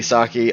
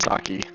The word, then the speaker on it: sake: It is exactly sake. Although I Yeah. found out we're pronouncing sake wrong. It's not pronounced sake. Yeah, it has an E in it, not an I.